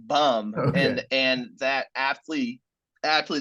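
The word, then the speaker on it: Böhm: Mandy boom from Germany uh Mandy bum it's pronounced bum and and that athlete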